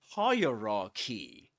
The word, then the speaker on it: hierarchy: The point is that we say hierarchy and the accented syllable is the first one. This one higher hierarchy.